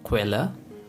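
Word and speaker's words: Quelle: The next one is ku, which is pronounced like the combination of the word K and V. And the example for ku is quella, which means source.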